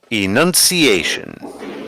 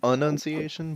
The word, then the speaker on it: enunciation: that because I cannot enunciation he even said it wrong e n u n c i a t i o n assuming they spelled it correctly I always said anunciation but yeah okay so